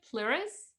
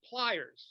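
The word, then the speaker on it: PLYRZ: do you pronounce it plearus it's called pliers like uh it's like flyers pair of pliers it's uh and it's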